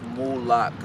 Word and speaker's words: Mula1ks: It's Mula1ks. It's like same Mula, but add a K at the end.